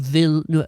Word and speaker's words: Villeneuve: Denis Villeneuve. How do you pronounce his last name?